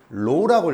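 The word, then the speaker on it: ρ: 얘 읽을 때 뭐라고 읽었죠? 로우라고 읽었어요. 로우. 알파, 베타, 감마 할 때.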